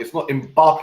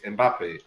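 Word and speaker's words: Mbappé: Messi, and Ronaldo, and Mbappe. Yeah. Mbappe, bro, it's not Mbappe, it's Mbappe.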